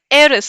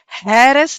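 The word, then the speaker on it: heiress: तो इसको हैरेस नहीं बोलेंगे, हावर नहीं बोलेंगे, ह नहीं बोलेंगे, द साउंड इज अवर। इसको बोलेंगे एरस। And what is the meaning of एरस?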